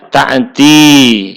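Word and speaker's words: تأتي: Nah, au ta'tiya itu asalnya ta'ti ya, ta'ti begitu. Ini fi'il mudhari yang i'rabnya ropa dengan alamat domah muqaddarah, asalnya kan ta'tiyu, tapi ini jadi domah muqaddarah, tetap dibacanya ta'ti.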